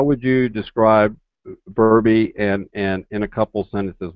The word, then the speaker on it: Verbi: just shortened it to Verbi. right, So right, right. Which is almost rhymes with my name, but we won't talk about that, okay?